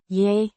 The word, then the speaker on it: Jeg: Ja. Means I, pronounced Yeah.